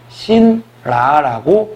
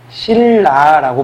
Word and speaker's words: 신라: 그러니까 표기대로만 읽어본다면 신라라고 발음을 하게 돼요. 그죠? 신라라고 표기를 하게 됩니다. 발음이라고 했나요, 제가? 표기를 하게 됩니다. 그죠? 신라라고 표기를 하게 되는데 우리는 그 누구도 이거를 갖다가 그죠? 신라라고 발음하지 않습니다. 어떻게 발음해주죠? 그죠? 신라라고 발음해주죠. 즉 받침에 있던 니은이 무엇으로 바뀌게 됩니까? 네, 리을로 바뀌게 됩니다.